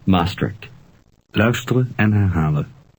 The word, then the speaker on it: Maastricht: Here's how the Dutch pronounce Maastricht. Luisteren en herhalen. Maastricht.